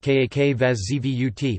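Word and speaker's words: Как вас зовут: Pronounced Kak Vas Zavut, Kak Vas Zvut, pleased to meet you equals Asin Priyatno, pronounced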